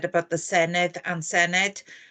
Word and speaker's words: Senedd: Marsden said about the Senedd and Senedd? Not everybody can pronounce the double D as a the, so it's a bit